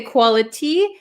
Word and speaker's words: quality: quality we can say quality but this T um is surrounded by two vowel sounds so this becomes a flap te right quality Quality quality time